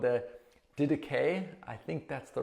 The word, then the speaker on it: Didache: we live out our Christian lives, called the Didache. I think that's the right pronunciation.